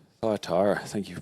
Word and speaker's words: Thyatira: Righto, Thyatira. Thyatira, thank you for pronouncing that.